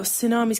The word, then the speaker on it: tsunami: Oh, tsunami's got a tea in it, Jared. Oh, right. No. At the front. At the front. Yes. Are you sure, Mel? Yes. Thank you. Well, you don't pronounce. No, you don't pronounce. Then I'm leaving it like that. Well, that's wrong, Jerry. I don't care. I'm not putting a tea on that doesn't even get said.